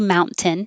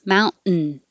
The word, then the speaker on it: mountain: mountain it's not wrong you can say fount ten that's fine but without the t you could put your tongue in the in position mount and then just make the noise mountain same for fountain fountain